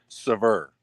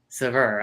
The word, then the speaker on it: Sauveur: Nobody pronounces it correct. It's Sauveur. Sauveur.